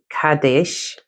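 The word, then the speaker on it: Qadesh: Cadesh, pronounced Kadesh, is an ancient Egyptian goddess of sacred ecstasy.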